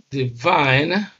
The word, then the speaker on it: divine: V okay Divine and because this first syllable contains a weak vowel which is the short e sound whereas the second syllable contains a strong vowel which is a def tongue ey so stress is on the second Sy because it has a stronger it is it has a stronger vowel and this syllable is